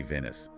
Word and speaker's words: Venice: His name uh pronounced like the city Venice.